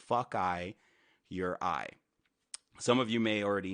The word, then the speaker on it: Fokaiureye: Oh, also, and then my name, Fuckeye Your Eye, is how you pronounce it. Fuckeye Your Eye.